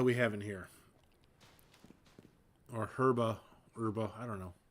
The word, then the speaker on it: Herba: Or Herba, I don't know. Pronounce the H, don't pronounce the H. You do you. I don't pronounce the H.